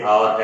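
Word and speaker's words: hour: जैसे आवर है एच ओ यू आर जिसको हम हवर बोल देते हैं।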